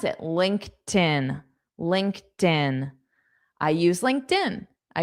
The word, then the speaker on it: LinkedIn: This ED is pronounced as just T.